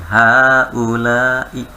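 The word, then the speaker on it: هؤلاء: Haknya panjangin Bapak Ibu. Bapak Ibu bacanya haknya panjangin. Haulai. Ya. Zanya panjang, Bu. Zalika. Iya, Masya Allah. Bagus. Jawab. Iya, haknya ingat, kalau hak seperti haza tadi. Kan tulisannya haza, pendek ya. Aslinya panjang Ibu, maka baca panjang. Haza.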